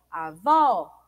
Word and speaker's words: avó: Avó é o vó.